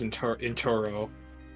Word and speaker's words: Enturo: Oh yeah, my name is Enturo. It rhymes with churros.